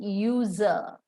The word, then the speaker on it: user: do we pronounce it user yes it begins with a consonant y sound and that's the reason